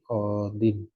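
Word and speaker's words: قاضٍ: Maka ketika bentuknya qadin, tidak ada alif lam, dan kondisinya ini, orang Arab tidak mau membaca ya-nya. Qadi, qadiyun. Nggak mau dia qadiyun. Dia sederhanakan aja, ya-nya tidak ditulis, tidak dibaca, tidak diucapkan. Jadi qadin.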